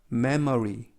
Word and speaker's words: memory: 알파벳 M은 M, 알파벳 E는 에, M은 M, 알파벳 O는 어, R은 L, R 발음하실 때 혀를 안으로 말아 넣으시면서 입천정에 닿지 않도록 발음하십니다. R. Y는 E. 그래서 memory, memory라고 발음합니다.